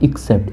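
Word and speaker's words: except: इसको एक्सेप्ट नहीं, एक्सेप्ट तो स्वीकार करना होता है, इसका प्रोनाउंसिएशन होता है एक्सेप्ट।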